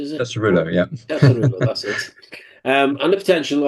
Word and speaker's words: Tesorillo: So with the Tesorillo, I think that's how you pronounce it, is it? That's Cirillo, yeah. Tesorillo, that's it.